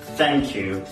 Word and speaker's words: thank you: Thank you.